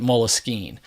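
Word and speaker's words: Moleskine: Paris France it was a French word Mullis keen just why I pronounce it Mullis keen but people suggest that the French took it from the word moleskin the English word meaning the instead of a leather-bound it was literally like the skin from moles oddly enough and to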